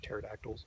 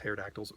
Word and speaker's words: pterodactyl: got a little arms and pterodactyls not hair dactyls velociraptors that's pronouncing completely